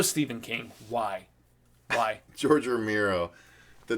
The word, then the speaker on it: Romero: george romero no stephen king why why george romero the name you mispronounced to his face ballsy bro mara and romero yeah romero bro he keeps saying